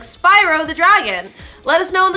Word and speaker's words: Spyro: why is it SPO is Dragon it's Spyro the Dragon I can't tell you why his name Spiro why is my name pronounced that's how people pronounce it it's not it's not it's not speo I got like a philosophical AR why is